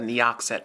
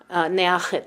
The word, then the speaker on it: Neachit: I always said Neoxet, but... Neachit is how he says it, so I try to say it like he says it.